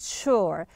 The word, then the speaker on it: sure: you go you see the pronunciation of the S you we say Shh as urs pronounced sure so sure here you